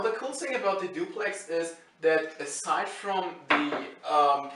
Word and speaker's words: DUPLX: This thing is spelled DUPLX, I'm just calling it duplex because this is the most rather sensible option I can take. I mean, calling it duplex is kind of weird, okay?